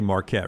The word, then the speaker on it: Marquette: and Yukon tonight I'm not sure I say Marquette right no you just said it right marqu